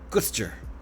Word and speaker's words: Gloucester: Probably as least syllables as possible. Gloucester. Right? Gloucester. That's how you say it. Just you got it all down to 2 syllables, right? Gloucester. You got to figure out how to say it the English way.